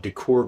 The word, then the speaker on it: D'COR: wanted one and a company called decor graphics uh it's spelled b uh d c o dcor decor graphics i came out with